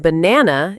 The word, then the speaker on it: banana: For example, the stress in banana is on the second syllable.